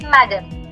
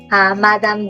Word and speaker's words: Madame: An Englishman might read it as madam. But a French would read it as, someone, how would we pronounce it? You know the A sound? Yes, Geetika. Madame. Madame. Last letter silent. D is soft.